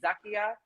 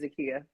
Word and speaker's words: Zakiyah: but my name is zakiyah i'm jamaican though so my mom calls me zakiyah but my name american pronunciation is zakiyah okay okay i just